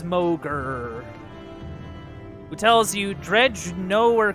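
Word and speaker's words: Mogr: then to mogger or mocher bow I already forgot how you pronounce it now I get to look okay it is mogger who tells you dredge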